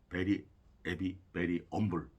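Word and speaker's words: Very 'Eavy Very 'Umble: 원래는 그렇게 써야 되는데 그 영국 사람들 이게 저 액센트로 그 앞에 그 H 발음을 안 하는 경향이 있다고 하네요. 그래서 H를 빼가지고 베리 에비 베리 엄블 그래서 헤비에서 그러니까 에비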